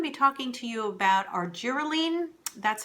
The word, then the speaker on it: Argireline: Um, in this episode, I'm going to be talking to you about our giralene. That's how it's pronounced.